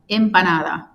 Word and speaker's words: empanada: out there out loud, impanada. Imp. Oh, so it's like an I. It's like imp. Uhhuh. The E are pronounced like I's in Spanish.